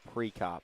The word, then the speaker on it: Preop: Point and then preop preop the E is pronounced as an i preop Morrow Johnson that's Boyce